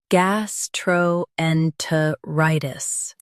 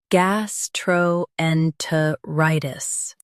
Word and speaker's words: Gastroenteritis: Gastroenteritis. Now, read the syllables shown on the screen naturally. Gas. Tro. En. Tuh. Rye. Tis. Gastroenteritis. Stress rye and keep gas light. Gas. Tro. En. Tuh. Rye. Tis. Gastroenteritis.